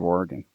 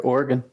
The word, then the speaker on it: Oregon: What's the proper pronunciation of Oregon? You said it there, Oregon. Yeah. Whereas people that aren't from there, they go Oregon.